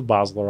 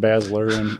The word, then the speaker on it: Bosler: No, he's a Bosler also. Oh, okay. But what was part of the joke is everybody always calls him Basler, and so he's called him Basler, and the other Matt.